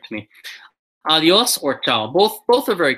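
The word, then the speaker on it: Adiós: With an accent on the O. Adios.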